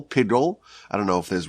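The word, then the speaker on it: piggul: sacrifice is now disqualified it's known as pigle I guess it's you would spell it P i g g u l pigle i don't know if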